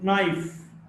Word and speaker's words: knife: K in the sequence or the cluster KN is not pronounced. No, KN or no, or knife, or knowledge. In these cases, K is not pronounced.